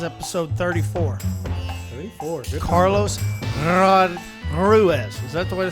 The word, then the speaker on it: Ruiz: Everybody calls you Ruiz. Everybody says Ruiz. It's incorrect.